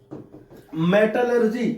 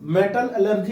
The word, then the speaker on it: metallurgy: मेटलर्जी एक साथ पढ़ते हैं, मेटल एलर्जी नहीं होता है, मेटलर्जी होता है, क्या मेटल को एलर्जी हो गया।